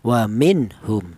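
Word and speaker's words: وَمِنْهُمْ: ini termasuk hurufnya izhar maka cara bacanya nun mati ini dibaca jelas waminhum seperti itu.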